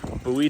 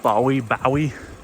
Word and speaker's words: Bowie: though on it says Bowie, Texas. Looks like Bowie, but it's pronounced Bowie.